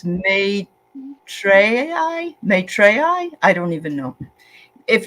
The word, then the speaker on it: Maitreyi: Okay, it's my Treyi. My Treyi, she says. Thank you, dear. Or May Treyi.